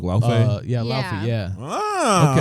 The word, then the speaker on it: Laufey: Because the character's name is Laufey.